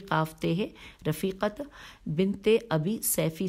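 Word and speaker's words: صیفی: ہے، رفیقت بنت ابی سیفی، سیفی کی ہجے ہے، سواد یہ فے چھوٹی ہے۔ آئیے ان کے بارے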